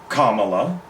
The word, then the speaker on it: Kamala: it anyway so yeah today Kamala Kamala is their correct pronunciation even I struggle with it because nobody's bothered